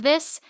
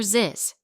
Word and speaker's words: this: Instead of saying think, some learners say tink or sink. Instead of this, they say dis or ziz. Quick tip. Place your tongue between your teeth, not behind them, and gently blow air out.